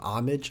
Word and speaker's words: homage: Homage. Homage to. Is that the word? Maybe. Hom homage. Yeah. Oh, is it really homage? Yeah. I guess the H is silent.